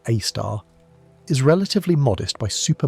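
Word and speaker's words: Sagittarius A*: The Milky Way's central black hole called Sagittarius AE, pronounced AAR, is relatively modest by super massive standards at about 4 million solar masses.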